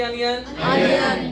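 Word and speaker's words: onion: अभी बोला था ओ की जगह किसका साउंड आता है, आ का साउंड, जल्दी बोलो किसका आता है, आ का। ओनियन की अनियन, अपॉर्चुनिटी की अपॉर्चुनिटी, और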